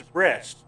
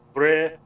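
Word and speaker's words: Brest: been a history fanatic, I've still never found a different pronunciation for breast. No matter what I've looked at or seen in historical shows or documentaries, it's always breast. Not bre or something else, it's breast.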